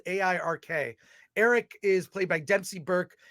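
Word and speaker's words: Airk: brother uh his name is Eric Eric but it's spelled a-i-r-k Eric is played by Dempsey Burke and he's just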